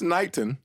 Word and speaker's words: Knighton: or something like that that's Knighton is it 19 is that I've been saying it wrong it's not negative I'm like I gotta